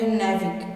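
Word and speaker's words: NavIC: नेविक इसका spelling है इसका जो आपका साउंड आएगा नेविक आप एन एवी आईसी मत बोलिएगा इसका स्पेलिंग है ने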